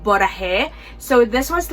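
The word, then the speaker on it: 보라해: Alright, so the first prompt is called Borahae. I don't know if I'm pronouncing it correctly, but it's Bora and then Hey.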